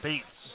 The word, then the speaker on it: Betts: It's actually pronounced Bates. Bates, like the motel.